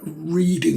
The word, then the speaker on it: Reading: these bizarre walls, and for US viewers, Reading is spelt like reading a book, but it's pronounced Reading.